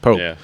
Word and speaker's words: Pope: Roman P Roman Pope that's what it is Roman Pope is back no that's literally how he says he pronounces it Pope uh Roman Pope's back